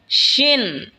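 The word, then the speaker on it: ش: এরপর হলো শিন। শিন জিহ্বার মধ্যখান তার বরাবর ওপরে তালের সঙ্গে লাগা উচ্চারণ হবে শিন।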